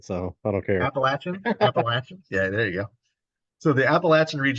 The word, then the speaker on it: Appalachian: to say it so I don't care appalachin appalachin yeah there you go so the Appalachian region